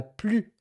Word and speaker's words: plus: En français, euh on ne prononce pas le S quand on quand il s'agit du superlatif.